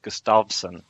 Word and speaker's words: Gustafsson: fight against Gustafson and apparently which should be pronounced Gustafsson oh my god which I've been doing incorrectly